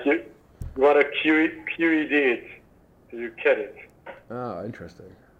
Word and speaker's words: Qedit: It's pronounced qedit. Qedit, yes. I thought so. Good. It's a little bit like Reddit.